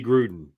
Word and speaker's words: Gruden: Gruden, Thank you. I said the name wrong.